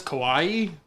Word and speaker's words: Kawhi: I were texting because Kawhi hit that awesome game winner shot. I wish I had it queued up. His name is Kawaii. Kawhi, That means cute in Japanese.